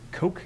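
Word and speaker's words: Cocke: parts of what is Coke County, I believe, is the pronunciation there. I don't think it's Cook, but it's C-O-C-K-E, which is the county just on the other side of the North Carolina border.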